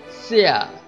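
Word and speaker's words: 下: Xia, xia, xia, xia. Các bạn nhớ âm x đọc giống chữ sờ trong tiếng Việt.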